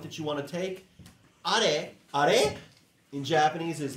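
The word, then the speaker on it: あれ: Are. Are wa nan desu ka? That's not R. Okay, you don't say that like English. It's are. Another note that you want to take. Are.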